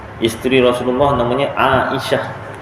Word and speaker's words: Aisyah: Tu kan contoh sayidatuna Aisyah isteri Rasulullah namanya Aisyah orang Melayu sebut Aisyah Aisyah lagu pun Aisyah kan asal bahasa Arab Ain Alif di atas Hamzah dibawah e mana datang ainya Aisyah